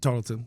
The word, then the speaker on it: Tarleton: I was looking for how you say it, Tarleton? Tarleton.